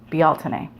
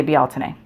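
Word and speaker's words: Bealtaine: that word oddly but if you look up the original gaelic pronunciation in google you will hear a guy say it and it's be alton a so as was pointed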